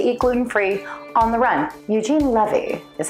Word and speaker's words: Eugene Levy: Eugene Levy is how you pronounce his name.